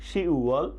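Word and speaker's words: 시월: শি ওয়াল, এখানেও কি নিচের ভাতচিমটি থাকবে না, তাহলে উচ্চারণ হবে কি শি ওয়াল, শি ওয়াল, শি ওয়াল, শি ওয়াল October mass.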